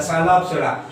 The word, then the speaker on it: Psilopsida: जिस तरह नाम में ये पी साइलेंट है, मैंने इस पर भी स्टार लगा दिया। सो नाम यहां से स्टार्ट होगा, नेम द साइलोप्सिडा, तो यहाँ पे टी है